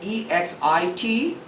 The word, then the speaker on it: exit: Another one is EXIT. X following is I, which is a vowel. You must pronounce it as exit.